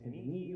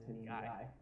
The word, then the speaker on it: tendineae: These, if I can hook them properly, are your heartstrings that I mentioned are called the chordae tendineae, or sometimes pronounced tendineae.